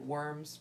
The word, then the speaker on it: Worms: I'm pronouncing this right, Worms. It looks like worms, but it's German, so that's usually pronounced V, Worms.